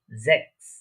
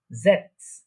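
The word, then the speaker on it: sechs: আমরা সাধারণত দেখেছি অনেক জার্মানের ক্ষেত্রে জেডটা স বা এস এর মতো উচ্চারণ হয়, আবার এসটা অনেক সময় এস ও উচ্চারণ হয়, আবার জ বা বর্গীয় জ যেটা বলে থাকি আমরা বাংলাতে ওইটার মতো উচ্চারণ হয়। তাহলে এটার প্রনাউন্সিয়েশন কি হচ্ছে জ্যাক্স।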